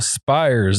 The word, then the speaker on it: Spyres: thank you for tuning in I got Michael spires in the studio my pronouncing that right yes sir I know it's